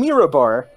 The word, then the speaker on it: Mirabar: I'm being honest, that's actually how you say it. That's actually how you spell it? No, that's how you say it. So a merchant from Mirabar.